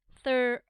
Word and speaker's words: throne: O takes long O sound and E is silent.